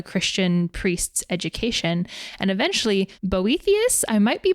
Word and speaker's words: Boethius: And eventually Boethius, I might be pronouncing that wrong. Boethius, that's correct.